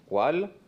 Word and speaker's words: Wahl: jean paul wahl cela s'écrit pareillement w à h tél mais cela ne se prononce pas exactement de la même manière en allemand walt comme on dit chez